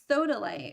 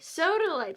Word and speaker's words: sodalite: How do you pronounce that? Sodalite. Sodalite.